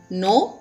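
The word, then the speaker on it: know: तो मैंने पहला लिखा हुआ है, इसका आंसर है नंबर 1 नो. इसे कनो नहीं, नो पढ़ना है, के साइलेंट है.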